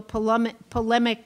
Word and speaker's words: polemic: Try as he might, Rupert could not prevent the conversation from turning into a polemic debate.